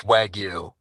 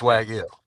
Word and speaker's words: wagyu: it incorrectly this whole time I'm pretty sure pronounce it for us please Patrick it's wagu right and uh depending if you're talking to